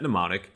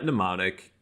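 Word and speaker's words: Mnemonic: set neonic it's spelled kind of funky so set neonic and then we add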